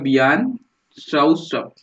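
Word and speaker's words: Bjarne Stroustrup: हर एक का नाम अपने को सही सही प्रोनाउंस करने आना चाहिए। तो वो है बियान शाउस्टॉप।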